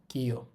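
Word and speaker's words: キョ: কি এর সাথে দিব ইও, এটা হবে কিও। কি যোগ ইয়া, কিয়া। কি যোগ ইউ, কিউ। কি যোগ ইও হবে কিও।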